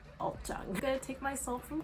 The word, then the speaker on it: ulzzang: on youtube i swear they pronounced it oozning oozling it's not loosely like maybe if the romanization kind of looks like that in english but it's ultron i'm gonna take myself